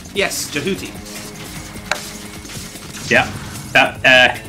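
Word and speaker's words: Jehuty: called though right yes jouti yeah that uh easy to pronounce English name jeti jouti it's actually jeti jeti it is a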